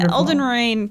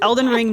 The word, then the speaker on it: Elden Ring: I love that you get the name wrong every time. What is it called? Nobody tell her. Nobody tell her. Well, no. Is it It's Elden Ring, Night Rain, right?